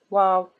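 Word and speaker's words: و: Anytime you have long vowel, you have to stop and think, how will I read waw here? Do I read waw as wa or I read it as oo?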